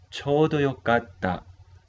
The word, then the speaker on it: ちょうどよかった: Pronunciamos el título, chodo, cho largo, chodo, yokata. Chodo yokatta, chodo yokatta.